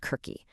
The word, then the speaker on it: Circe: Finally, we have Circe. Sometimes you'll hear it pronounced Kirky.